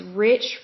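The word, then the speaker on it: Reich: 2009 the next New Jersey Superfund Site is Rich farm r-e-i-c-h farm it is located in Toms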